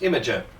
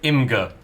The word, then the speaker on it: Imgur: Imager. Right. Where are you getting some of those letters from? Because that definitely just says Imgur.